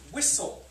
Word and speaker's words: whistle: It's like the word whistle, you know. Whistle. That also has S-T, but you don't hear the T.